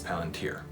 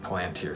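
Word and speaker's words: palantír: plant here palantir stuff i think it's palantir is the correct pronunciation anyways so i didn't love any other palantir stuff i just said it wrong it plantier stuff but as an as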